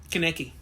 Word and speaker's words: Kaneki: Kaneki. Ken Kaneki from Tokyo Ghoul. Thank you. I'm terrible with names. My pronunciation might be off, sorry, but that's phonetically that's how it's spelled.